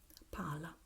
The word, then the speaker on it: pala: So we have, when we have the double consonant, the vowel that precedes the special combination is shorter, is sharper. Palla, palla. You see, you hear a very short vowel, palla. While when we have the single consonant, we tend to have the vowel preceding it a bit longer, pala, pala, palla, pala.